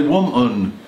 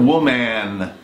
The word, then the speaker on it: woman: If you want to perfect your American English accent, you must learn to say wo-mun instead of wo-man.